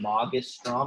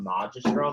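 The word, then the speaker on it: magistrum: so much so remember that is a hard g and magus strom it's not major strong that sounds weird but puella magastrom definitely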